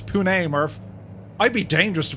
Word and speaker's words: Pune: yeah what's he doing it's pronounced pune home of the big tech in india and bangalore nice hoon it's pune murph i'd be dangerous